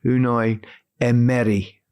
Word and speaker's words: Unai Emery: Unai Emery. Unai Emery. Yeah, Emery. Because, the emphasis is over the middle E. It's not Emery. It's Emery. Okay.